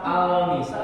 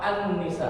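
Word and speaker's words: النساء: Contoh, An-nisa. Lamnya nggak kelihatan, maka dibacanya apa? Al-nisa apa an-nisa? An-nisa. Lamnya jangan dibaca.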